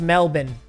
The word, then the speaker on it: Melbourne: that is not how you pronounce it it's pronounced Melbourne okay Cam acres is in Melbourne for five